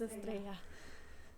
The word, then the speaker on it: Estrella: You don't pronounce the L's in the name. It's Estrella.